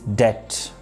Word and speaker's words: debt: Another word in this list is debt, which is oftenly mispronounced like debt.